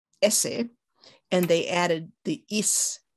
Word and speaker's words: Auset: And what happens is maybe New Kingdom or even earlier, the T pronunciation falls away. And linguists tell me that her name would have been pronounced in Kemetic more like Esse.